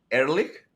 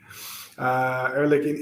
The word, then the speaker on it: Ehrlich: So there's a guy there, Ehrlich Bachman. So it's not from that, but the name itself is German in origin. I think it means like honest man or something like that. So yeah. Ehrlich in Hebrew would say Ehrlich.